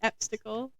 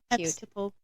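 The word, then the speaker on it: Epsicle: eple was born I love that name the eple I'll spell it for you I'm not saying it wrong e PS i c l e eple that is adorable those were my sips of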